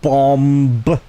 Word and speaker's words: bomb: So that's super you know and obviously that bomb the b is silent dumb dumb stuff like that.